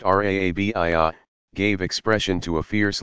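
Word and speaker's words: Rabia: 801, pronounced Rabiyah, gave expression to a fierce longing for God in bold, shocking love poetry.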